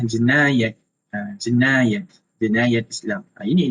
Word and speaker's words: Jinayat: Tapi dalam Islam sebutannya adalah jenayat.